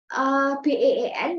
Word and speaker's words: been: Nah, jadi tulisannya BEEN tapi bacanya been ya.